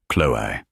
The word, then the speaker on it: Chloe: Thank you, Chloe, he said, pronouncing her name the French way. Chloe.